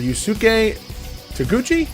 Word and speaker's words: Yusuke Taguchi: how do you say that were you were yusuke taguchi perfect sure now fumi yamamoto and then we're